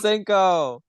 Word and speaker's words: Protsenko: So Protsenko.